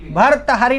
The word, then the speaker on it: भर्तृहरि: भर्तहरि नहीं, भर्तृहरि। क्या बोलना है? हाँ, आप क्या बोल रहे हैं? भर्तहरि। आप क्या बोल रहे हैं? भर्तहरि नहीं बोलना, क्या बोलना है? भर्तृहरि।